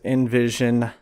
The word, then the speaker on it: NVZN: Today I have John Shaffer in here with Envision Inc. I'll edit that. Yeah, Envision Inc. It's a little difficult to pronounce because it's spelled weird, NVZN.